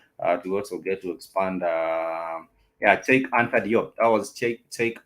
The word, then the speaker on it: Cheikh: I think it's pronounced the same way as Cheikh. Yeah, it's Cheki, and I'm yet to